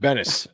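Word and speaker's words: Ed Benes: I say Benz because I've been saying that for years, but Bennis, I believe is how you pronounce it.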